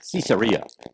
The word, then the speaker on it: Caesarea: Mediterranean Sea and um I should say it like our guide would say caesarea you know he'd say it that way like Caesar caesarea but uh he was